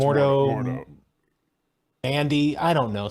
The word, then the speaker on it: Mordo: Home to be, I'm going to get his name wrong, Mordo. Oh, yeah, more Doctor Doctor Strange's nemesis. Right. Yeah, I think it's Mordo.